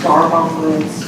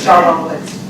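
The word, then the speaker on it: D'Arbonne Woods: Can I correct you with Darbon Woods? That's my area, but I have issues there all the time. I gotta say it right. Darbon Woods.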